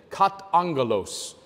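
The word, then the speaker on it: καταγγέλλω: word angel in it katangalos is the way that you pronounce it in the Greek language and the word for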